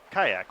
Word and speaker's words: Kayak: And he's like, Kayak, like the boat.